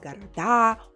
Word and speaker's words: города: You may also heard the stress shift in these words. So there is an entire category where the stress was in the middle, especially when it's a short word. And then when it's a plural form, the stress travels all the way to the end.